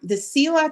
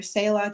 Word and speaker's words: Selah: The Sela Tales or Selah Tales, it is, a lot of people pronounce it, it's kind of like tomato, tomato.